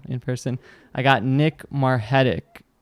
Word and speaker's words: Margetic: I got Nick Margetic, right? I pronounced it right? That's right, Margetic, Argentine.